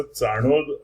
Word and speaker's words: चाणोद: तर याला तसं चाणोद असं नॉर्मली म्हणतात, ते स्पेलिंग चांदोद असं लिहिलेलं आहे.